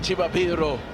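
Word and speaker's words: Chivaviro: And note I'm saying Chibabiro because I've been told that's the proper way of pronouncing that name.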